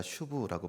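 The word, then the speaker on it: שוב: 이 돌아오라라는 말을 원어로 보니까 슈브라고 발음합니다.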